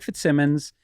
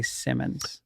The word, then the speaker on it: Fitzsimmons: into a hotel and i say greg fitzsimmons 90 percent of the time if it's african-american they say simmons that's interesting black women's